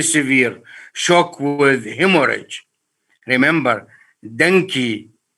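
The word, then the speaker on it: dengue: could be very severe shock with hemorrhage remember denki pronounce it properly denki viruses can cause hemorrhage is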